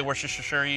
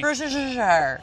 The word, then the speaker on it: Worcestershire: No one knows how to say it. Yeah, we say Worcestershire. Worcestershire.